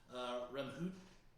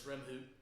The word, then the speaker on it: Remhoogte: This is Remhoot, and it's spelled funny, but it's Remhoot. It's REMHOOGTE. The G is silent.